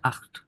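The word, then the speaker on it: acht: জিন গেল এবার হচ্ছে আখ খ এর মত হবে এটা কিন্তু ক না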